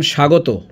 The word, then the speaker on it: স্বাগত: যেমন স্বাগত স্মরণ এখানে ব এবং ম এর কোন উচ্চারণ হয়নি।